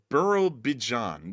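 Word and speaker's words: Birobidzhan: Burough Bjon. There we go. That's how it's pronounced.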